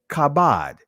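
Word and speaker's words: כָּבוֹד: This is the ancient Hebrew pronunciation, kabod.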